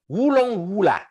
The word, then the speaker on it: Wurongfla: Le premier dictionnaire Bambara venu, ou le moindre gamin de Bamako ou de Ségou, sachant un peu de français, vous dira Wurongfla, souvent prononcé Wulongwula.